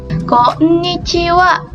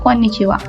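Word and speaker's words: こんにちは: Ini hurufnya H, sama ya ini juga. Tapi dia dibacanya itu wa.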